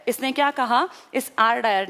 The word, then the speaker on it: Dyer: ही उसका नाम है, आर डायर। इसके डायर की स्पेलिंग देखना, DYER, वो DWYER, दोनों बोलने में एक जैसे हैं डायर, लेकिन वो माइकल ओ डायर है, ये आर डायर है।